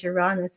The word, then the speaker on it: Uranus: and uranus um yes i pronounce uranus uranus some people say uranus but like i can't say that without like giggling like a school girl and like that's crazy about that fearing this but like it but i heard i heard some other astrologers pronounce it as your rawness and i'm like okay problem solved if i say it that way i won't laugh i know that neil